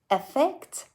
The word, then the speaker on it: effect: noun effect the one that starts with e has an er sound at the start while the verb starting